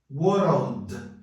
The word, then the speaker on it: World: muito simples tá aqui entre a consoante seguida da letra L vai entrar o som do Chap pronto tá aqui agora é só pronunciar World mais rápido que significa